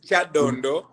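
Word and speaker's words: Kyadondo: name wrong uh that no the name is Chad Dondo but you pronounce it in a very interesting way and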